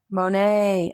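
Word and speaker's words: Monet: It rhymes with Goan. Mo Monae. Monae.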